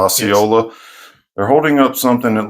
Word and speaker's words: Osceola: comes up, and I always mess up the pronunciation, but it's Osceola. Osceola, yes. Osceola.